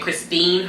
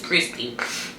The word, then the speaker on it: Christy: I did say her name wrong. I was saying Christine. Her name is Christy.